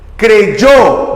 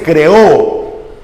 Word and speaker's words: creyó: Creyó, no se dice creó.